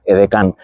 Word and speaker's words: aide de camp: Fijaos aquí, por ejemplo, las ayudas de campo, eh los edcanes, que se dice que viene del francés aide de Camp, que pronunciado es Edecán.